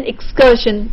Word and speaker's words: excursion: Then excursion, the cursion part is stressed.